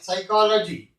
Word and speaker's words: psychology: k is not pronounced p s says c h y psychology here the p is not pronounced from the above three